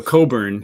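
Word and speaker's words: Cockburn: So, Coburn is how you pronounce that. I know some people think it's pronounced differently.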